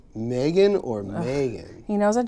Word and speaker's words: Megan: I'm like, no, it's Megan. Yeah, I would say I lean towards Megan. Yeah. The way it's spelled.